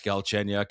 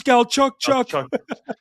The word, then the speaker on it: Galchenyuk: it was Don when Don Cherry tried to say Alex Galchenyuk. Alex Galchuk. Well, I have Max Paxeri over here uh on the on the wall. But yeah, Don Cherry and his infamous pronunciation of names. That was absolutely horrible.